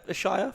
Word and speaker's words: Ashayer: Yeah, Ashayer.